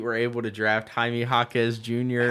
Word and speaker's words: Jaquez: You don't pronounce the U.